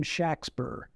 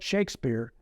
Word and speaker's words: Shakespeare: to pronounce his name shackspur with a short a and a short e the business records of